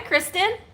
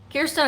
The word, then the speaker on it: Kirsten: Hi Kristen. Or Kirsten. Gosh darn it, I did it again. Kirsten, I said your name wrong and I went buffering.